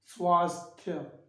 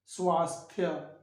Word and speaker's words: स्वास्थ्य: स्वास्थ्य, आधा स आधा थ य, स्वास्थ्य स्वास्थ्य।